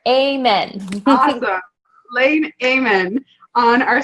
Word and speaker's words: Ehmann: you for a long a min like a prayer amen Haga Lane Damon on